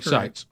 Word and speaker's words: Seitz: like I'm looking like Vision yeah ex Greg seses yes but I like saying it's easier I know you I think you